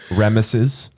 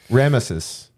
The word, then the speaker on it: Ramesses: i'm just saying i would have also accepted remuses oh ramsay's remuses sneaky it's spelled r-a-m-e-s-e-s ramesses yeah just like an